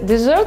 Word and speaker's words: desert: В слове «desert», как в русском «десерт», ударение падает на второй слог, а пустыня «desert» на первый.